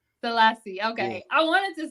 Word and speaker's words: Sellassie: I be getting names wrong how do you pronounce the last name salassi salassi okay I wanted to say that salasi okay it's all love don't worry about it